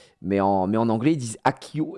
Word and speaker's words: Accio: Mais en anglais ils disent Akio et non pas Axio. Voilà, c'était juste pour vous aussi. Au moins ça vous fait une petite anecdote de plus à savoir sur Harry Potter, tout simplement. Ah non, ça s'écrit ACCIO aussi ici. Pardon, excusez-moi. Mais ils disent bien Akio.